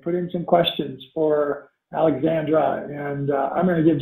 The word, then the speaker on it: Alexsandra: It's Alexsandra. I think Marie was saying you make a little bit of a break in between there.